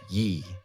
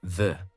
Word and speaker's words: ye: Despite what most people think, it was never pronounced ye. It was always supposed to be read as the.